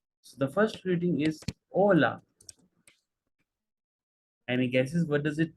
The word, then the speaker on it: hola: focus there it's not hola it's Ola Edge is usually H is silent most of the time for any word starting with h Ona buenos dias buenos